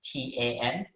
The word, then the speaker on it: Thun: a lot easier if i just spell my name t-a-n right that's a common name in malaysia and in asia in fact and that's exactly how it's pronounced so feel free to